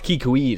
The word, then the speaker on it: Kikwi: Sounds like a kiwi. Oh. It's kikui though. Kikui. Totally spelled like kiwi with a K in the middle.